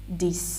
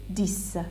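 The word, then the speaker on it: dix: Now 8, 9, 10. You don't say X, which is at last, you just say 10, like that it ends by S, 10, right?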